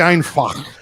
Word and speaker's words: einfach: It's actually einfach. Deutsch ist einfach.